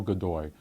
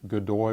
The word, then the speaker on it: Godoy: So the Spanish government increasingly is dominated by this man, Manuel Godoy. This is Godoy, that's spelled G-O-D-O-Y.